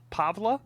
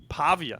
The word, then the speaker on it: Pavia: Shout out Diago Pavla. Am I pronouncing Pavia. Pavia. Thank you, Makai. No L. Always add an L. There's no L in his last name.